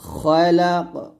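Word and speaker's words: خَلَقَ: তো এরকম হবে, ইকরা বিসমি রাব্বিকাল্লাযী খালাক, খা বলবেন না, খালাক, ইকরা বিসমি রাব্বিকাল্লাযী খালাক, এরকম।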